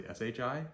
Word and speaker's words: shi: HR and lastly Shi think shr sure or the English word yeah sure why not except it's not sure it's sure yeah sure when you say it quickly so sure